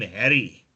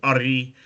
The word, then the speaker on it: Ari: and they called him Harry, which was his indigenous name was Ari, and his praise name was Achamoa, and they pronounced it Harry or Harry.